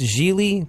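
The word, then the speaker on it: Gigli: was it was like it pronounced jeely but spelled giggly and like if you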